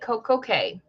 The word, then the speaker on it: Coco Cay: So perfect day at Coco Cay. You have to say it like that because it rhymes, even though we all know it's key, okay?